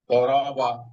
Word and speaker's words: ضرب: বিষয় মনে রাখতে হবে দদ আর দালের উচ্চারণ কাছাকাছি। তো দদের হ্যাঁ। উচ্চারণটা একটু মোটা হয় আর দাল চিকন হয়। যেমন দরবা, আর এটা যদি দাল দিয়ে হতো তাহলে হবে দরবা, আর দদ দিয়ে দরবা।